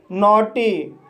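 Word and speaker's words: naughty: तो गाइस इसका पहला रूल है, जब किसी वर्ड में AUGH आए तब GH साइलेंट रहता है और AU का उच्चारण O होता है। जैसे नोटी, नोटी शब्द में AUGH आया है, इसलिए GH साइलेंट रहेगा और AU का उच्चारण O होगा, इसलिए इसे नोटी पढ़ा जाता है।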